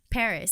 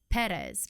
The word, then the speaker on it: Perez: is just like paris so it's spelt perez people think it's hispanic they think it's perez but in guam it's actually pronounced paris paris so it's like when